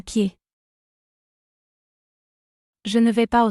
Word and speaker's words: pied: Foot in French is Pied. Pied. here the letter D isn't pronounced. Pied.